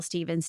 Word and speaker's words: Stephens: social media it's ail Stevens realtor pretty much everywhere or the Stevens team caveat my last name is spelled s e p h NS so it spelled different than it sounds but yeah I would